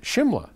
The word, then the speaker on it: Shimla: writing from Simla India now also called and pronounced Shimla Oh thank you which many will recall was